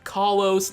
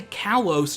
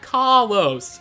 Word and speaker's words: Kalos: Kalos region and yes it is pronounced Kalos like you're saying caw-caw-caw-caw- like a bird a lot of people say Kalos just plain old like